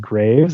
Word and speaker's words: Greaves: well as uh some other researchers like Hillary Greaves um actually it's funny I've known Hillary for a long time but I recently discovered that her name is actually pronounced Graves I don't know why I didn't no when